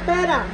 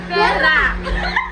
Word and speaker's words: pera: No, no, no, no, no, no, no, no, no, no, no, no, no, no, la pera. Perra! Perra! They're pronouncing that wrong!